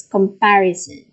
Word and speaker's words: comparison: this is the stress the stress is on the third syllable which is par so is it comparison